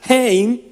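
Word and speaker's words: חן: el hebreo estoy buscando se escribe quien se pronuncia jane esa palabra gracia significa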